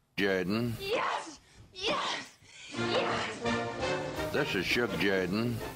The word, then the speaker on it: Jordan: Pronounced Jordan. And now for something completely different. This is Shug Jordan, coach of the Auburn Tigers. Say what? No. It's pronounced Jordan.